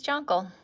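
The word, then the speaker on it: Jonqal: there we go and that is jungle which is a really funny tangle because it's spelled j-o-n-q-a-l which i think is like against english but my mom said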